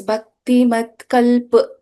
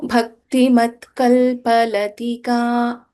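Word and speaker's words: Bhaktimatkalpalatika: So, we won't chant this as Bhakti Mat Kalp. We don't say P here. It is a Purnakshara Pa. So, Bhakti Mat Kalpalatika Pashupasha Vimochini Samhrita Shesh.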